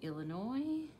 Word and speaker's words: Illinois: All right, this is the Illinois, which has a silent S at the end.